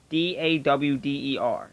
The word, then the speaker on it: daughter: We don't say daughter, we say daughter. Dawder. That's how we would spell it. Daughter.